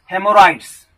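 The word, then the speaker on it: haemorrhoids: Next word है हेमोराइड्स, HAEMORROIDS, हेमोराइड्स। तो यहाँ पर एच साइलेंट है, तो हेमोराइड्स क्या होता है, swollen veins in the anus is called हेमोराइड्स।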